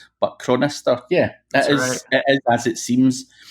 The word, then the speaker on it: Chronister: I'm crazy and as Adam crow nesstar hopefully I've got that memory Adam you got it you're one of the few that actually can pronounce my last name so congratulations and that's